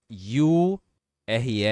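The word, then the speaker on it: you're: que nós vamos treinar esse you re aqui tem a pronúncia de Year e significa você está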